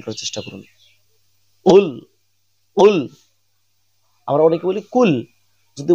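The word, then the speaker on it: قُلْ: করার চেষ্টা করুন কুল কুল আমরা অনেকে বলি কুল যদি বলি কুলহু আল্লাহু আহাদ তাহলে অর্থটা বিপরীত হয়ে যায় অর্থাৎ আমাদের উচ্চারণ করতে হবে কুল ধাক্কা দিয়ে কুল আমি যেরকম ভাবে উচ্চারণ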